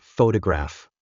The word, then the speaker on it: photograph: stressed more than others for example in the word photograph we stress the first syllable PPH but in the